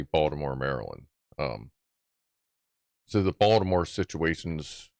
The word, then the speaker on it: Maryland: Whereas I'll say, I live in Baltimore, Maryland, or sometimes I'll say, I live in Essex, Maryland. And no, it's not Maryland. No, it's Maryland. That's how we pronounce it.